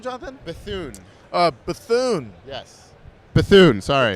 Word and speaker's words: Bethune: is Jonathan what was your last name Jonathan Bethune uh Bethune yes Bethune sorry dude how do you spell that b-e-t-h-u-n-e Bethune wow that's a pretty interesting name it's